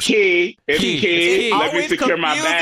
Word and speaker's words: Quay: quay which we love wait it's not it's not pronounced quai is it it's key let me secure my